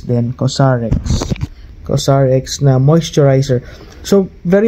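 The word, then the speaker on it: COSRX: ceramide comfort ceramide cream so ang pronunciation pala niya is cosx dati Akala ko krex okay so kx Korean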